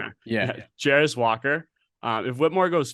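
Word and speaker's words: Jarace Walker: And if he goes 4, Walker, and I'm going to draw, how do you pronounce Walker's first name? I thought it was Jarris Walker. Okay. Yeah. Jarris Walker.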